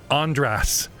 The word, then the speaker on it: Andras: twice, bringing us to Andras, which rhymes with on your ass.